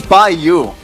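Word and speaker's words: By.U: It's by you. Buy.U. Did you see the dot? Look at the dot. I see the dot. Look at the dot. But you don't say the dot.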